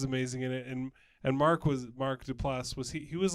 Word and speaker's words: Duplass: It's pronounced Duplass. It's Duplass.